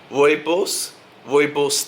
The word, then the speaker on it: Rooibos: I really only purchased one thing, and that was this Twinings Pure, how do you pronounce it? Rooibos tea.